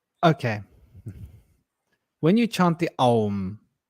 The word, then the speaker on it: Aum: chant the Aum, right, there's three parts of the Aum. There's the A, U, M. But when you actually chant it, there's 5 syllables. There's 5 twists of sound if you really listen to it when you chant it. And if you go, you'll see there's 5 different tonal shifts within that chant, which is fascinating.